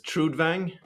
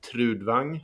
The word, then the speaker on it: Trudvang: I mean, the most I've heard it sort of in in in English is Trudvang. Uh, in Swedish it's more like trudang, but trudvang in in English is fine.